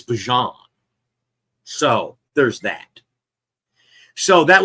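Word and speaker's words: Bijan: It's not Bejon, it's Bjon.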